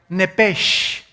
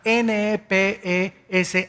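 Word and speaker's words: נפש: Biblia esa palabra alma es la palabra hebrea nepes así como suena n e p e s h nepes la palabra la letra o las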